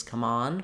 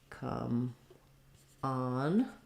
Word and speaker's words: come on: to use this as the verb phrase come on with stress on on so that's the first difference um it would be um secondary stress here um come on um but then we also have different totally different vowels in come on as well so we have the schah in the word come so you're going to